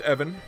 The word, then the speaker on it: Even: name was Evan it spelled like the word even but it's pronounced Evan so with the nobodies